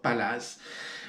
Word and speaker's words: Palaz: Palaz, d'accord, Palaz. Bon, ils ont prononcé le Z.